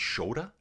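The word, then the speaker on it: Škoda: So SCOD is not SCOD, it's shodda changes the sound to sh.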